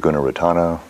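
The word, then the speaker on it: Gunaratana: and then Guna ratana is g-u-n-e r-a-t-a-n-a vonte Guna retana Bonte means teacher in Sri Lankan it's like ajan and Thai if you're familiar savante Guna retana g-u-n-e-r-a-t-a-n-a classically trained Monk and Sri Lanka and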